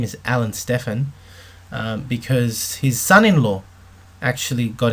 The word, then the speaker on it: Alan Stephan: Stephan sorry I should say his name is Alan Stefan because his son-in-law actually got in touch with me and corrected me on the pronunciation so it's Alan Stefan okay now his protein drink is shown here